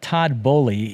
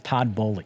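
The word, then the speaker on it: Todd Boehly: these people are uh it is todd bowley you know you and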